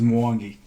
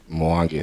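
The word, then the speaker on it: Mwangi: Um, and uh, he I I was going to pronounce his last name, but can you pronounce it for us? Yeah. Uh, last name is Moangi. Moangi.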